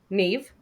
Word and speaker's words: Niamh: Neve is Niamh, Neve. Yeah.